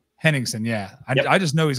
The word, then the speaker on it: Henningsen: And then you got Hennessy. How do you say his name? Henningsen, yeah.